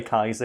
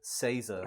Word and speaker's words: Caesar: I'm just going to say Kaiser because I know it's annoying someone out there. Yeah, and I'll say Caesar.